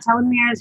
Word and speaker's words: telomeres: Telomeres.